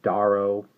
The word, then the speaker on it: Duarough: which is called the daro which is the name I've had trouble pronouncing I probably pronounced it several different ways it's supposed to be like a dwarf so we'll call it